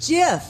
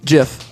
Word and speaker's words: GIF: that means the word the intended pronunciation deliberately echoes the american peanut butter brand jiff the compuserve employees would often say choozy developers choose gm that's right so it's jiff so how do you